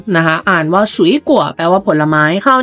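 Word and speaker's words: 水果: 2 3 คำ นี้ เรา ต้อง อ่าน ว่า ฉุย กั่ว ฉุย กั่ว เรา ต้อง ผัน เสียง เป็น 2 3 นะ คะ อ่าน ว่า ฉุย กั่ว แปล ว่า ผลไม้ คราว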